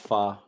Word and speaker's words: Hua: the eldest ahua yeah that is actually pronounced fa do would you like